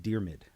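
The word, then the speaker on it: Diarmuid: AR mu i D it's a gaelic name pronounced dear mid so thank you dear mid yeah thanks man I'm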